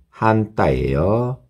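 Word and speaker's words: 反対: 군대에 한따이스루 한따이에요. 반대하다 한따이 한따이 이것도 그죠? 한따이 이런 식으로 약간 억양의 물결이 일어나거든요. 한따이 그죠? 빨리 읽으면 그냥 그렇게 표시가 나지는 않는데 어쨌든 약간 그런 뉘앙스가 있어요. 그런 느낌이 있어요.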